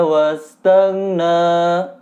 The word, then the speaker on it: wastaghna: Nah, apa yang harus diperhatikannya yaitu huruf go sukun. Kalau tidak teliti bisa keliru karena masih banyak yang memantulkan. Padahal itu kan bukan huruf qalqalah. Misalkan keliru dalam membacanya itu wastaghna. Jadi go-nya mantul. Nah, itu adalah bacaan yang keliru kalau go sampai mantul.